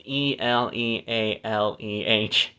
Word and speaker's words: Elealeh: Nimrah, and Heshbon, and Eliel, however you pronounce that. It's Elealeh. Eliele, I guess. Elele.